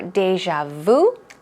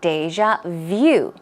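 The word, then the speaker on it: déjà vu: it that way but I would say this pronunciation is much more common ten nine out of ten people will say deja vu okay so two times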